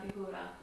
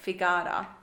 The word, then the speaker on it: figura: La Bella Figura. Figura. Just make sure you say figura, not figara, because yeah.